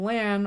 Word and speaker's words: Lan: heard other wheel of time people calling him lan i had changed my pronunciation and then when i heard oh no it's lawn i changed it back operating under the assumption